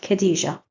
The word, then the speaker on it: Khadija: So if we have words like Khadija, it is written KH and pronounced Khadija.